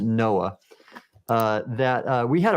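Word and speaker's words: NOAA: with the national Administration we pronounced it Noah uh that uh we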